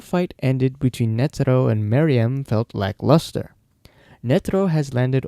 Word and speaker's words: Meruem: I think it's pronounced Maryam, though I might have said Mayram a few times in the video.